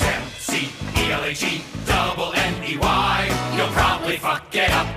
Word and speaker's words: McElhenney: It's McElhenney. McElhenney. McElhenney. McElhenney. If there was doubt, now there won't be any. It's McElhenney. First it's Mackle like a tackle when we take him to the ground.